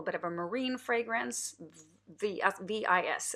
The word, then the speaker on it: Vis: V-I-S, it's called. V. I'm not sure how to pronounce it. I think the S is silent.